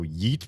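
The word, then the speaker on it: ġit: Yit. Pronounced same as... Oh, yeet. Pronounced same as yeet would be the modern English version of a dual second person pronoun.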